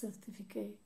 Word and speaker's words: certificate: But the last syllable of a two or more syllable word, especially when it's a noun, changes from the original vowel sound of ae to a schwa.